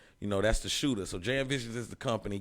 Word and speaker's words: JamVisions: But JamVisions, CamGod.